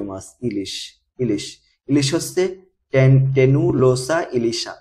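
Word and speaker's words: Tenualosa ilisha: এরপরে আমাদের জাতীয় মাছ ইলিশ ইলিশ ইলিশ হচ্ছে টেনু লোসা ইলিশা উচ্চারণ কি হবে টেনুলোসা ইলিশা আবার হিলসা ইলিশাও বলা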